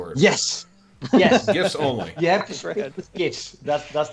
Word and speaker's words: GIF: a proper english discussion there's no debate it's gif with a hard g i mean the guy